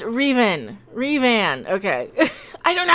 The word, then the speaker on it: Revan: Also, it's pronounced Revan.